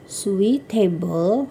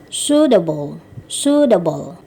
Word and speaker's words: suitable: Dibacanya bukan suitable gitu ya, tetapi suitable gitu ya, cocok, suitable.